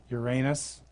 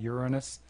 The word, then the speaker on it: Uranus: Uranus, that's the right way to say it, not Uranus.